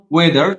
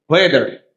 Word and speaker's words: whether: ইটস নট ওয়েদার, ইটস ওয়েদার। হ উচ্চারণ হবে ওয়েদার।